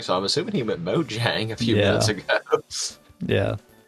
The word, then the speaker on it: Mojang: look weird gotcha I thought you said like mongi or whatever I'm just like I I was like that's probably the most different pronunciation I've ever heard it be yeah I knew it was Mojang so I was just reading though because it